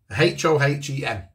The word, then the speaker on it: Hohem: It sounds like I'm clearing my throat. It's a H-O-H-E-M. Hohem.